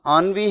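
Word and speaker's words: ennui: आनुई number 24 पे इसकी pronunciation थोड़ी डिफरेंट है. तो इसकी प्रोनाउंसिएशन आनवी है, तो ये प्रोनाउंसिएशन थोड़ी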